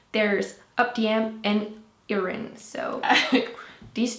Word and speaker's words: Heroine: So we have that exact same name, but we don't pronounce the H, so it's like Heroine. So Heroine. Oh, I still can't do it.